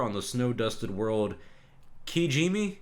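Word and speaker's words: Kijimi: the snow dusted world qiji me I believe is how you say it that's how I remember how they said it so this movie seems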